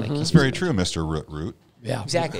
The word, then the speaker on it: Root: For people that, because I'll say Root, and they'll be like, spell that. R-U-T-T? And I'm like, no, R-O-O-T.